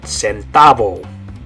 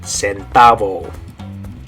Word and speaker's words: centavo: Good, centavo. So in English it's the word cent. In Spanish you're going to say, good, centavo.